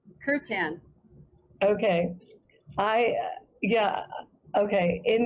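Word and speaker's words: kirtan: Angela sorry Angela what how do you say that word say it curt kan okay I Yeah.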